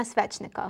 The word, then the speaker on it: Svetchnikov: Tell me your full name, because you have a name that I couldn't pronounce, so I beg that you just work with me. My name is Svetchnikov.